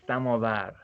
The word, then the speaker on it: samovar: The pronunciation is samovar.